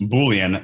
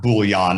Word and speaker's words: Boolean: this one so i boolean pronounced boolean not bouillon not like the cubes you put in your soup uh boolean was created